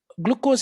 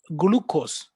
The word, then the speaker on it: glucose: evaluate something all right also glucose is mispronounced he said glucose it's wrong it's actually glucose okay all right the